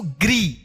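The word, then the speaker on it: गृ: तो जिस अक्षर में लगा हुआ रहेगा री की मात्रा, उस अक्षर के साथ री का उच्चारण हम करेंगे। जैसे ग में री की मात्रा इस तरह से नीचे लगे रहे तो क्या पढ़ेंगे इसको? ग्री, ठीक है।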